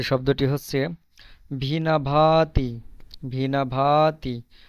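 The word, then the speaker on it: виноватый: এখানে ভিনা, ভিনা, এন এর পরে ও আছে, বাট এটার উচ্চারণ আ হচ্ছে।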